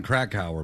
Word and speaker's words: Krakauer: Now, the book, John Krakauer book, that's the correct pronunciation, right?